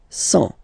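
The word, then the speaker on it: cent: and the last one, 100. Remember, final T not pronounced.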